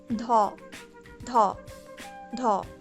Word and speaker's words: 더: Second, dha, dha, dha.